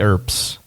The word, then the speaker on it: Earp: Yeah, the Earps.